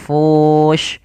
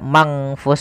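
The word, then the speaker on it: منفوش: Bukan, maka jangan dibaca mangfus semua, tapi langsung ke makhraj daripada huruf fa-nya. Maka ikhfa-nya itu, ikhfa adalah membacanya ke huruf yang setelahnya atau disamarkan ke huruf fa-nya. Manfush. Kita ulangi.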